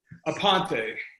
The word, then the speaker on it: Aponte: How do you pronounce your last name? Aponte.